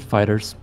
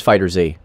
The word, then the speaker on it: FighterZ: have the best songs wait fighters are fighter z uh people pronounce it fighters because that uppercase is dumb oh okay we are talking about fighter z the actual proper name is fighter z yep i just there's